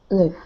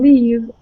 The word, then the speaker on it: live: Only I would ask you to pronounce the word live shorter. Live. Because live. The way you're pronouncing leave, it sounds like a different verb. I see. Okay. Live.